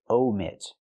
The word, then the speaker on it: omit: she wants to say omit use a long o like no and go omit Americans like to